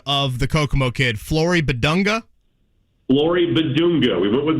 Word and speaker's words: Flory Bidunga: Give me the pronunciation of the Kokomo kid, Flory Bidunga.